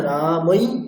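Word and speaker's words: রামৈঃ: হে হরে হে আচ্ছা এবার ধরুন ঐকার আছে যেমন হয় না রামই বিসর্গ আছে রা মমই বিসর্গ উচ্চারণটা কেমন হবে রামাই হই রামহাই রামহাই রামাই রামহাই হই তাইতো রামাই ঠিক আছে কেমন এখানে একটু ব্যতিক্রম রামাই রামাই তাহলে ব্যতিক্রমের জায়গায়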